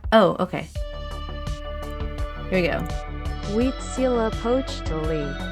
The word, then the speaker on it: Huitzilopochtli: Pronunciation. Is that? Oh, okay. Here we go. Huitzilopochtli. Huitzilopochtli.